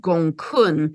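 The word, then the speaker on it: Gonggong: But the dragon energy is coming in very strongly because there's a dwarf planet it's spelt Gong Gong, but it's actually pronounced Gong Kun.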